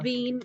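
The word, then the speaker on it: Wien: हाँ वीन और नीचे वाला वाइन।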